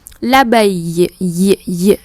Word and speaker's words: l'abeille: L'abeille, như là yoga âm y.